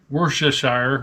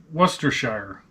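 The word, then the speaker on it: Worcestershire: it the same what wor Shear Shire so I guess it's worshire worsters Shire except in the UK they say Shear I have we'll just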